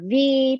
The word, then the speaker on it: Vy: V, pronounced like the letter.